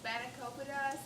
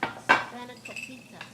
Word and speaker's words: spanakopita: How do you pronounce it? Spanakopita? Spanakopita? Spanakopita.